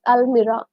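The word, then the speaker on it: almirah: all right smoothie alira you say it's not Al we in Malayalam we say alamara but in English it's alira a l m i r h you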